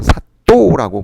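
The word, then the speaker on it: 사또: 사도라고 불렀습니다 사도 그래서 요걸 된 발음으로 해서 사도라고 부르기도 합니다 음 자 그럼이 수령들이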